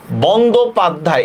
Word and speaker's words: বন্দ্যোপাধ্যায়: আমি বলতেছি যখন যুক্ত বর্ণের সাথে হবে, যেমন দেখেন একটা উচ্চারণ দেখাই, বন্দ্যোপাধ্যায়, এটা কিন্তু বন্দ্যোপাধ্যায় আমরা বলি না, ঠিক না?